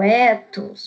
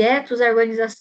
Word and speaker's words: ethos: Aristóteles chamou de ethos a organização do discurso. Pessoal, não é ethos, tá? É ethos. Ethos é a marca do carro. Eu acho até que se escreve assim. Mas é ethos.